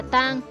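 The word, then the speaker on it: 桑: Nguyên nhân là bởi trong tiếng Hán, cây dâu đọc là tang, cùng âm với tang ma, tang tóc, có liên quan đến chết chóc bất hạnh, không mang lại may mắn.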